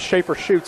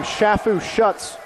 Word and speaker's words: Schaefer Schutz: And from a player's perspective, my name is Schaefer Schutz. I've been pronounced everything you can imagine. There was one game, Shafu Schutz came out.